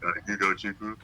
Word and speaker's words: Ugochukwo: People kind of see my last name, it's hard to pronounce. Not too hard once you get used to it. That's good. But Ugochukwo.